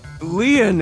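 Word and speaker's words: Lien: to stay by your side my name lean is spelled l i e n in French lean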